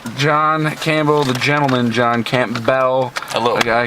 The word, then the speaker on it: Campbell: Campbell the gentleman John Camp Bell a little guy I keep pronouncing your name wrong it's Camp Bell um so uh John